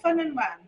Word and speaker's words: Ffynnon Wen: of the pub that I I can never pronounce these pubs you bring us to. What's this one called? Fun andwen.